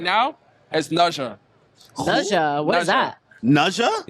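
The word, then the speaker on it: Ne Zha: pronounced It's like Naja. Naja 2.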